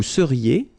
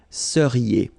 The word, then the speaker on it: seriez: So here when you've got this Z at the end, then you get the sound E, seriez.